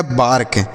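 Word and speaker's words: bark: से क, लिखा गया बार्क। तो ए के बाद अगर आर आता है तो ए का उच्चारण आ के रूप में करना है, ठीक है बच्चों।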